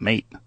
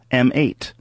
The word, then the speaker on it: M8: How do you say it? Mate? It's not Mate. HTC One M8.